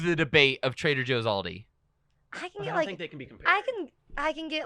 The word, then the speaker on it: Aldi: she pronounced it what aldi's aldi's yes there's an s on the end of it in pittsburgh everywhere else it's just aldi i am from only